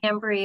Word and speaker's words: Tambry: do you say it is it tambry that's how you say your name yeah tambry or tammy it's fine when you mentioned